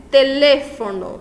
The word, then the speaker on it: teléfono: Teléfono. Então, a gente tem a palavra telefone. Em teléfono, a sílaba tônica recai no lê e aí acentuado.